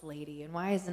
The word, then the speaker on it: LVDY: heck is LBD Y and why is it pronounced lady and why is it not Livy and does